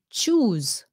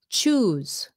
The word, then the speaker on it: choose: sounds like a z choose choose okay that e is silent at the end ends in s e